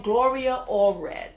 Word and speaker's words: Gloria Allred: That's how you pronounce her name, Gloria Allred. She's going to gain more popularity, Gloria Allred, and more money.